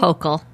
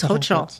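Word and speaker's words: Hochul: Am I saying it right? Hokll. It's Hokll, I believe. So, I thought it was Hoel. Wait, Hokll. Hokll is the way I hear it. Okay. I've always heard Hoel. Hokll. Okay, whatever.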